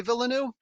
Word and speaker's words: Villeneuve: Villeneuve was it Jose Villeneuve.